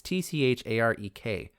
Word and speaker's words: Tcharek: Well, actually, you run into a lot of Vithracks, but there's one Vithrack in particular whose name I'm going to pronounce as Charek, or Charek. It's Tcharek.